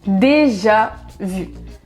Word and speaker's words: déjà vu: En anglais, vous dites déjà vu ou bien déjà vu. Je suis désolée parce que c'est trop compliqué pour moi d'imiter des accents. Je suis trop nulle. Mais bon, en français, on dit déjà vu.